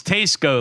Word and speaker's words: Tesco: just like warped and we have determined it's Tesco like SE t Okay this goes back